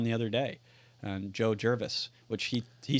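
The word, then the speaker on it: Gervais: he says he says it's Jervis not jervy which I Jervis yeah Jervis yes which it was kind of a funny there are it's like bue or poucher or bercher there are a million pronunciations of g r v a i s how does he do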